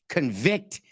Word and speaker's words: convict: three six nine convict it makes such a difference at where you put the syllable and the emphasis convict is the word of